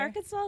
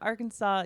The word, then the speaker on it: Arkansas: Arkansas or Arkansas Arkansas the S is confusing spelled like R Kansas us to yeah like our pirate R Kanas Kansas yeah it's spelled it's spelled like that um but it's a but it's not it's not said that way at all so did you go